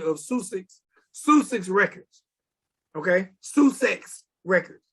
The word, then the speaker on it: Sussex: was the founder of susic's sushi records okay sue sex records sussex that's how you pronounce that yeah you've heard of it yes